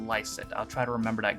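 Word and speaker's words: Lycett: cancer only more dire it's pronounced joe lysit okay i wasn't sure if it was lysit or leset but lysit i'll try to remember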